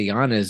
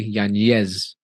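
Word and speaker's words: Yañez: It has the Enya. I want people to say it correctly. Yanez.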